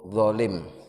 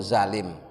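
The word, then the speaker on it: ظالم: sudah menjadi bahasa Indonesia walaupun selalu pengucapannya menjadi sedikit berubah yang benar itu dzolim pakai DHA tapi kemudian di bahasa sehari-hari itu zalim pakai maknanya sering dimaknai dengan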